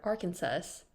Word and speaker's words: Arkansas: of mispronunciation back in the early days two Arkansas US senators disagreed on how to pronounce a state's name one favored Arkansas with s while the other preferred Arkansas with SAS in 1881 the state's general assembly